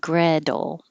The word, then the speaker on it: Gretel: and of hansel and gretel we're pronouncing these names american english style so the t will change to a d and the a is